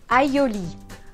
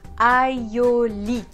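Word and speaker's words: aïoli: Aioli. Aioli.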